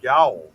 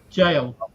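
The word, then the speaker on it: gaol: The Mount Gavier Gow. Jail. A jail. Yeah. Oh, I'm sorry. Jail. You got I forgot you guys spell it differently over there.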